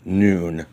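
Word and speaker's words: nun: of the hebrew alphabet is called noon pronounced noon and has the sound of as in now the letter noon is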